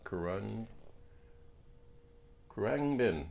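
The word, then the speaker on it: Khruangbin: is the album uh koran bin i think is how it's pronounced i don't know someone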